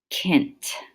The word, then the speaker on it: cent: at the first one and in Latin it's pronounced Kent okay and a lot of times the other